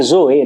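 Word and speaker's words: ζωή: é essa palavra é na verdade a pronúncia do grego seria Zoe né Tem um acento Zinho aí no e mas traz uma ideia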